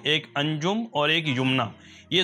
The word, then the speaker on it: Yumna: spelling जो आएगी वाई यू एम एन ए यमना ठीक है ये तो इसके दुरुस्त स्पेलिंग और इसका प्रोनंसिएशन हो गया यमना ठीक है इसके माने जो आते हैं वो